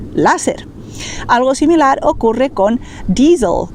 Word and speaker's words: láser: Por eso, en lugar de decir laser, nosotros diremos láser. ¿Por qué? Porque el laser está escrito con una letra A, entonces vamos a pronunciar lógicamente láser.